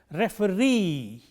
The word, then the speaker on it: referee: If a word ends in double E, the stress is on the last syllable of this word. For instance, a commonly used word, 3 syllables, employee, the stress is on the last syllable, and therefore, we pronounce it employee, nominee, referee, and so on.